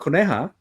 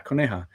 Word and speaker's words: Coneja: Well, let's talk about, is it pronounced, let's see, Konahai? Okay, so Coneja is from Chispa Comics. Yeah, Coneja.